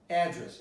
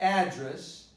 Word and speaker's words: address: So every time I pronounce a word, you're supposed to pay close attention to the stress. So address is not the same as address. To address is a verb, address is the noun.